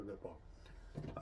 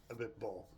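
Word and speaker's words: Abiteboul: Sarah Abitbol. Abitbol. A bit bull.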